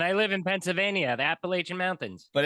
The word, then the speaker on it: Appalachian: And we could fight over the pronunciation if you want, because everybody that doesn't go there says Appalachian, and everybody that went there says Appalachian, but that's a whole nother thing. I say Appalachian, and I live in Pennsylvania, the Appalachian Mountains.